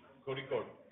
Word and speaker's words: Kozhikode: Let me see if I get the pronunciation right. Kozhikode.